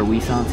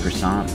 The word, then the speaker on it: croissant: The butter wissants here are delightful. I know it's pronounced croissant, but I like to call it wissant.